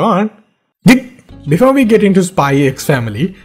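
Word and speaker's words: Spy × Family: Before we get into Spy X Family, which is also mispronounced as Spy Family, and Spy Into Family, which is very weird by the way, we need to talk about today's sponsor, Skillshare.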